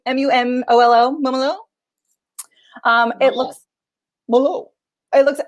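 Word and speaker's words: Mumolo: moomaloo how do we say her name m-u-m-o-l-o momolo um it looks it looks absolutely hilarious and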